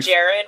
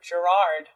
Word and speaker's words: Gerard: You called him Jared Way? I'm offended you said Jared instead of Gerard. Is it Gerard, really? It is Gerard Way.